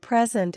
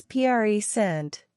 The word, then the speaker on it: present: understand you for example the word present is pronounced differently depending on whether it's a noun or a verb as a noun it's PR scent meaning a gift and as a verb it's pre sent meaning to give or show something pay